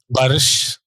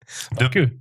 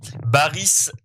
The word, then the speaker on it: Barış: Barış. Non, ben non. Pas De que. Baris Adi Gouzel, Exactement. comme disent les gars de RMC. Bah ouais, parce que finalement, ça se prononce pas du tout comme ça.